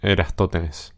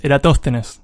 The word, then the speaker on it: Eratóstenes: el episodio estamos diciendo yo dije era esto tenés eras totes y no es ir hasta tenés es eratóstenes eratóstenes ir a todos tenés